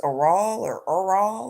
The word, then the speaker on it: Errol: Woody Allen, uh I don't his name was Errol or something like that. Errol Musk. I can't pronounce it right. I know it's Errol. Um Errol? I kept calling him Earl. I know his name wasn't Earl, but I kept calling him Earl.